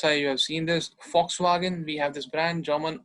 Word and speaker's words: Volkswagen: So इसे हम Volkswagen नहीं पढ़ेंगे. V sound नहीं आएगा. V is V, F sound. Volkswagen, V, Volkswagen.